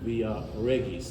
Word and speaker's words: Via Regis: Regis this way but it's Regis because it's Latin okay the Romans all